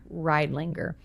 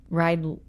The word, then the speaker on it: Riedlinger: Tell me how to pronounce her last name. Riedlinger. Riedlinger.